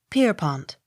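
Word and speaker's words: Pierrepont: e p y s peppis accent on first syllable p i e r r e p o n t pierpont p o n s o n b y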